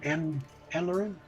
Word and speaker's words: Anne-Lauren: Is it Anne-Lauren? It's Anne Lauren. I guess just make it easy to say Anne. Accent on the Anne.